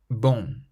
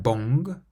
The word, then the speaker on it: bon: Bon, bon. So it's not quite bong, but we stop before we pronounce the G, bon, bon.